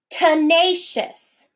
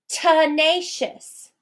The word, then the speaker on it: tenacious: Tenacious. Tenacious. Do you hear the sound in the first syllable? The first syllable in the word tenacious is unstressed.